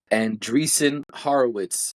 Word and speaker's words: Andreessen Horowitz: investor consortium that includes Oracle, Silver Lake, and Andreessen Horowitz. I don't know how to pronounce that.